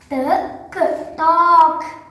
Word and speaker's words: talk: L ఉంది కదా అని L పలకకూడదు. ఓకేనా? ఇవి వచ్చినప్పుడు ఈ L అనేది సైలెంట్ అవుతుంది.